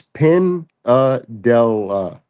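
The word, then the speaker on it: Pindella: Yeah, it's Pin della. So like Pin della? Pin della. Pin della. Yeah, it's it's Italian.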